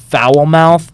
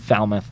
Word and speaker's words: Falmouth: I'm gonna be honest foul mouth is the most ridiculous pronunciation of Falmouth that I've ever I said Falmouth you didn't even comment